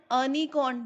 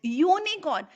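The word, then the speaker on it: unicorn: This is नॉट यूनिकॉर्न, this is नॉट अनिकॉर्न, this is यूनिकॉर्न. यहाँ पे हम इसको य बोल रहे हैं.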